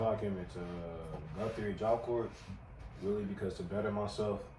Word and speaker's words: Job Corps: So it's it's actually pronounced Job Corps, but corpse is a dead body.